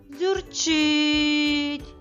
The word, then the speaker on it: дзюрчить: склад у слові дзюрчить який склад у цьому слові ми вимовляємо довше та з більшою силою зюрчить правильно склад чить другий склад зюрчить цей склад є наголошеним у слові дзюрчить чудово давай визначимо де